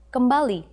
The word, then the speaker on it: kembali: The other way to say you are welcome is the expression kembali.